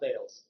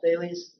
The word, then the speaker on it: Thales: When you were reading it without hearing anybody say it, you might have thought Thales. But yeah, Thales.